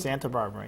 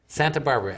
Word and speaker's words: Santabarbara: Santabarbara, yep. Santabarbara. I Just didn't like the city, I yeah. thought there was an extra little syllable in there, but there isn't.